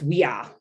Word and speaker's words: via: Okay, that's why, and that's why the words like via that we say for road is actually pronounced via. Like the V's are pronounced like W's.